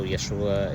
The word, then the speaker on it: Yeshua: it's just you know Yeshua is the Hebrew uh pronunciation um and that path